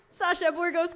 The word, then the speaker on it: Sasha Burgos: with Puerto Rico so um my boriqua friend Sasha Burgos K she gets props for saying my